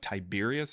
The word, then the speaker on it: Tiberius: We actually know that's from the Pilot Stone that dates to the time of Tiberius is how it's pronounced.